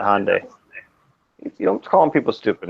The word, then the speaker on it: Hyundai: like the Henda the you mean Hyundai Hyundai yeah Hyundai sorry but I AR they hyand hyand I Santa Fe in Canada hyand it's Hyundai red I think you say it wrong I it's Hye never heard it are youand are you